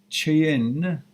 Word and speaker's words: Cheyenne: I says, my name is Cheyenne. I apologize. It's a beautiful name. I just want to know how to pronounce it.